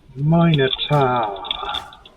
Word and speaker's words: Minotaur: Minotaur. And yes, that more or less is the right way to pronounce it.